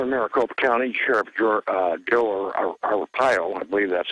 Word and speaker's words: Arpaio: Here in Maricopa County, Sheriff Joe Arpaio, I believe that's how you pronounce his name.